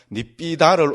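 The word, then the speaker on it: nibbidā: 발음 기호를 생각하고 읽어버리면 된다 그랬죠. 그죠? 그래서 니삐다. 이렇게 읽어버리면 됩니다. 두 개 있으면은 하나는 밑에, 그죠? 그거로 잡아 넣어버리면 됩니다. 그래서 니삐다. 이렇게 읽으면 됩니다.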